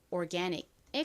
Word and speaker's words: organic: 한국식 표기는 오가닉, 실제 발음은 organic에 가깝게 소리가 나죠.